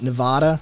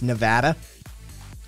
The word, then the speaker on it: Nevada: ] like touchy about how its name is pronounced that it's not nevada it's nevada and like people get in trouble for saying